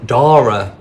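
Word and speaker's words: Darragh: it's called storm D Dar but it's spelled a bit weird um is it spelled the Irish way I think so d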